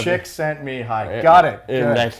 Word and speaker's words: Csikszentmihalyi: I can pronounce his surname. Ooh. You know where I got that? It was in Dan Pink's book. I know. He actually phonetically spells it out. Right? I'm like, Chick sent me hi.